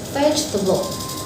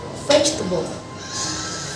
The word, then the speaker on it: vegetable: Okay friends, the first word is vegetable and the phonetic sound is vegetable. Vegetable. The stress is located on the first syllable and the meaning of this word is sayuran.